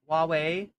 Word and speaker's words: Huawei: It's pronounced Huawei. Oh, it's Huawei.